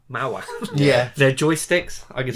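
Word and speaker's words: Maoam: I'm not sure how you pronounce the company name, but it's like the other Haribo brands. Like Mao. Oh, Mao-Am. Mao-Am.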